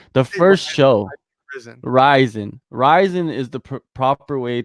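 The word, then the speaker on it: Rizin: the the promotion okay like the first show risin risin is the proper way to pronounce it a lot of people say risen and you know let me give an example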